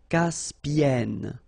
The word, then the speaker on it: Caspienne: Caspienne.